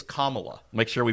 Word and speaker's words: Kamala: But it's Kamala. Make sure we pronounce it properly.